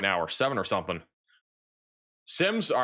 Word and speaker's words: Semmes: Semmes or Semore? Sims? It's called Sims.